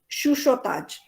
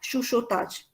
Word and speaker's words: chuchotage: वो जो CHUCHOTAGE है, that is to be pronounced as shushotaj. ठीक है, इसको चूचो नहीं करना, सब लोग ऐसे ही करते हैं. This has to be pronounced as shushotaj. Okay, it's actually a French word.